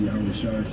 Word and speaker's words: Yahushai: His name is Yahushai. And we also believe by faith we are pronouncing his name correctly according to the ancient Hebrew.